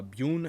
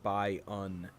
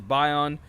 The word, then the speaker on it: Byun: is going to be I love by own I believe is how it's pronounced uh Boon as I said last game is definitely wrong uh he's a Korean